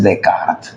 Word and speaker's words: Descartes: a poner Descartes no Descartes se escribe sí Descartes en francés Es decart ya ya tienes a